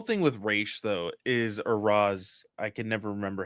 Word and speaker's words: Ra's: Like, honestly, with the whole thing with Ra's though or Raz, I can never remember how you pronounce it. Ra's is the proper way. Even Talia says that in the animated series.